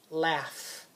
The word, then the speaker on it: laughs: of course right this is the word laughs laughs do you hear how the gh is making